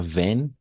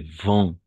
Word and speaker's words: vent: Alors, la seule remarque ici, c'est pas veine, c'est vent. D'accord? Le T à la fin, on ne prononce jamais.